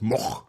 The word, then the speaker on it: Moog: I read it with the Bob Moog, and he said no, I pronounce it Moog. So I don't know. I don't. And then it was like the just- original Dutch pronunciation is moch or something like that, you know.